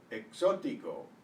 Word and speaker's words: exótico: The X is usually pronounced KS, as it is in English, box and sax. Before a consonant, however, it's pronounced usually like the S of the English C.